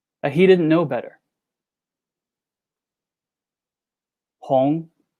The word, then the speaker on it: hong: he didn't know better hong that is how you say red in chinese h-o-n-g second tone the romanticized version opinion